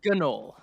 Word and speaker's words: gnoll: It's a gnoll. Pronounce the G, Zoru. Gnoll.